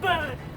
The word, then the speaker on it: BRD: I think it's pronounced bird.